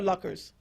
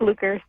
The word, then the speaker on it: Lucas: Is it Lucas or Luckers? It's Lucas.